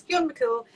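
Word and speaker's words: Fionn mac Cumhaill: Now I've spelled it on the label, a very English way, because if we spelled it the Irish way, nobody could pronounce it. But it's Fionn McCool.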